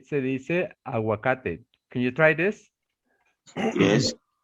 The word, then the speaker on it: aguacate: Okay, you're gonna say, se dice aguacate. Can you try this? Yes. ¿Cómo se dice avocado en español? En Se español, dice aguacate. aguacate. Aguacate, sí. Like water, aguacate.